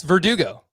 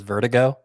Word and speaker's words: Verdugo: it uh alfred hitchcock's verdugo like vertigo i mean that's how i thought you pronounced his name at first was vertigo so it would work better if that was actually the pronunciation but that's fine last